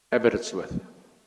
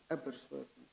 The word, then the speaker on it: Aberystwyth: The subject matter is Daughter's Study 2015 University of, how do you pronounce that name? Aberystwyth. Aberystwyth.